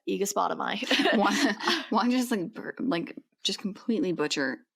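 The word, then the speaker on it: Aegospotami: Aegispotami.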